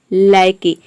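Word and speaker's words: lackey: मतलब होता है नौकर लायकी ये लौकी नहीं है ये है लायकी इसका मतलब होता है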